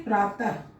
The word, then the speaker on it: प्रातः: इसका उच्चारण होगा ह, ह के रूप में इसका उच्चारण करेंगे। जैसे प्रातः, ह उच्चारण करें, प्रातः।